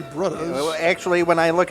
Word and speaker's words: Brudhas: first finalists, the 3 Brudhas. That's the pronunciation we're going to go with there, as they have a bit of a connotation, you'll say, as opposed to just 3 brothers. It's the 3 Brudhas.